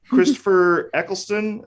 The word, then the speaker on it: Christopher Eccleston: Christopher Eccleston is how you pronounce it.